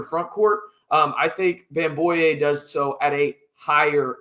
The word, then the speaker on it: Bamgboye: Um, I think bamboo does so at a higher level and it's bamboo boy. There you go. Just so y'all know, the G is silent.